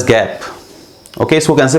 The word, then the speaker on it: GAAP: The acronym is pronounced age गैप।